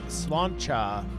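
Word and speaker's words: sláinte: see all right geez cilante pronounced slancha it's like cheers in ireland drunk but not that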